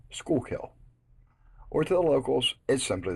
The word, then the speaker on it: Schuylkill: miles northwest of Center City Philadelphia name is pronounced school Hill or the locals is simply the school there